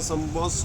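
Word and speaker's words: سنبوسه: और दूसरा जो फारसी में जो उसका उच्चारण होता है संबस, जो कहलाता है तिकोनी पेस्ट्री।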